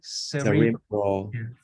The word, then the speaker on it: cerebral: uh cerebral palsies yeah so the emphasis is in the middle okay so you know you could say Sarah bro or cerebral right it sounds very different so cerebral palsy okay so emphasis is in the middle cerebral okay all right uh